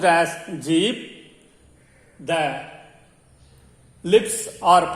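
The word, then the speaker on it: जीभ: The tongue is pronounced as jeeb.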